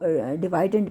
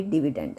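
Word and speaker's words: dividend: बहुत से लोग इसको डिवाइडेंड भी प्रोनाउंस करते हैं, बट एग्जैक्ट प्रोनाउंसिएशन इसकी डिविडेंड है।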